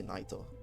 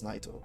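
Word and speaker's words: Nyto: I know that I think they're pronounced Nitos, but I don't really like that pronunciation. So sorry if anyone disagrees, but because in the Japanese voice lines from Nito's, they say Naito. So I'm certain it's Naito, but I don't like how it sounds.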